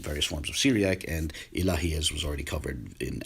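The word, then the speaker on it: إله: And all these terms are equivalent to the Arabic word Ilah, which is, again, the general word for deity.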